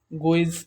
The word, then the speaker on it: Gouy: Gouy or Gauss method. So the pronunciation you should remember. As per our convenient, we consider it as Gauss method.